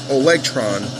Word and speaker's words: Olegtron: Let me just make sure I'm pronouncing this right. Yeah, Olegtron 4060.